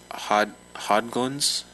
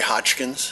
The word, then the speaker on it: Hodgkins: Hodglins? Did I pronounce that correctly? No, sorry. Would you say it for us, please? Good evening. My name is Hodgkins.